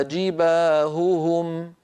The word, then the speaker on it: جباههم: لا يص هذا ابدا بل لابد لنا من بيان صوت الهاء الاولى من صوت الهاء الثانيه وان ننطق الهاء صافيه ليست مشوبه بصوت اخر حلقي هكذا هكذا هكذا فتكوى بها جباههم جباههم ببيان صوتها كذلك